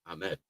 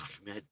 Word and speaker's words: Ahmed: We just say it the American way. Ahmed. But if you want to say it right, it's Ahmed.